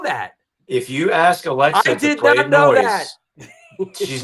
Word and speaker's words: Noi!se: like this fun fact the name of the band is pronounced as just noise but the addition of